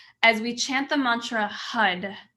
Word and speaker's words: Har: we chant the mantra hud it's spelled har but it sounds like hud hud hud hud and